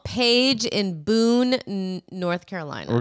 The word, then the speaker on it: Paige: well first of all that's not how you normally spell that name yes it is page no p-a-g-e no that's how you spell what's in a book that you read p-a-i-g-e yeah that's how you spell the name page call page in boone